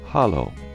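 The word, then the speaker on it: halló: or daughter daughter 13 hello and Icelandic is pronounced Hollow thank you is talk yes is yah no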